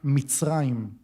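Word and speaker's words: מצרים: Egipto en hebreo se pronuncia mitraim. Mitraim.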